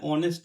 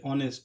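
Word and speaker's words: honest: আমাদের উচ্চারণের উপরে সেটা ডিপেন্ড করে। যেমন এখানে অনেস্ট আছে। অনেস্ট।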